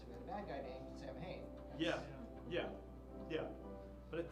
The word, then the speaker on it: Samhain: You'll hear, I call it Samhain. I think it's actually pronounced Samhain.